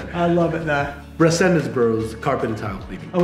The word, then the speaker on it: Resendez: carpet and tile cleaning you don't have to roll the RS I love it now resendence Bros carpet and tile